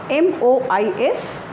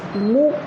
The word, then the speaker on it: mois: Mois, M-O-I-S, and in the pronunciation is Mois.